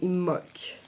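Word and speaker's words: Imbolc: Comment s'appelle de d'imolk à chaque fois je dis le B mais en fait on ne prononce pas le B ça s'écrit imolk et ça se dit imolk voilà euh de notre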